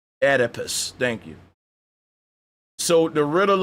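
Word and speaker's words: Oedipus: So, we going to go ahead and see if Google will pronounce this for me. Edipus. Edipus.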